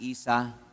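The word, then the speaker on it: Esau: panganay na anak si Isa. Akala ko nga Isaw ang pronunciation, Isa pala ang pronunciation.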